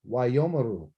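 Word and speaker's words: וַיֹּאמְרוּ: There's no vowels under the aleph. There's no sound to be made. And then I go right here and it's ma and then ru. Why, yo, ma, ru.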